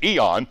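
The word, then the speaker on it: aion: word here is the word ion we would pronounce it Eon which simply means an age a season of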